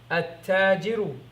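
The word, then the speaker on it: التاجر: Or you can just say the lam is not pronounced, you don't hear the lam, and the ta takes a shadda.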